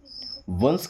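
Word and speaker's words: once: वंस ओ एन सी इसे ओन्स नहीं पढ़ते। क्या पढ़ते हैं? वंस। वंस का मतलब होता है एक बार।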